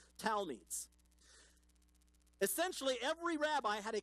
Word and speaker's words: talmid: Each rabbi had a small group of talmids. It's T-A-L-M-I-D, but it's pronounced Talmid.